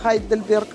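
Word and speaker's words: Heidelberg: вы увидите в гейдельберг по-немецки это хайдельберг есть еще такие примеры например гамбург и hamburg ну вы знаете городок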